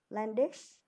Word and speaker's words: Landysh: Yeah, because it's really difficult to pronounce the sound U because there isn't in English language. They pronounce like Landysh or Landy.